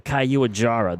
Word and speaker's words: Caiuajara: the Caiuajara. That's how it's pronounced.